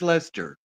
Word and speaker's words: Leicester: Okay, you have to pronounce this word. Leicester. Lester. Lester? That's blue-faced Lester.